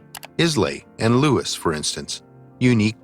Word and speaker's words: Islay: On islands like Islay and Lewis, for instance, unique DNA signatures have been found that rarely show up. Isla. The name of the island is Isla, not Islay.